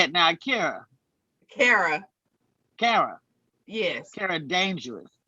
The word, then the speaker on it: Kera: It's Era with a K. Kera. Kera.